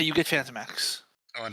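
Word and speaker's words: Phantomex: That's how you get Phantomax. Oh, and it's pronounced Phantom Mex.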